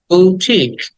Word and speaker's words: boutique: এর পরে লং ই বুটিক বুটিক বু টাকে টেনে বলতে হবে টি টাকেও টেনে বলতে হবে লাস্টে ক বুটিক এন্ড 43 এটাকে আমরা